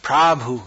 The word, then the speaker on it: Prabhu: Prabhu. Here in Croatia it's Prabhu, but in India it's Prabhu, not Prabhu. Just a point of pronunciation. Prab, not pra. That's a short A and long A.